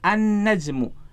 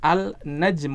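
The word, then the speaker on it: النجم: najmun An najmu jadi huruf lam nya melebur ke huruf setelahnya dalam hal ini berarti huruf nun ya lainnya tidak dibaca kita tidak membaca al-najm Uh tidak salah kalau kita membacanya dengan hal najmu tetapi bacanya gimana an najmu nya jadi disini penulis ingin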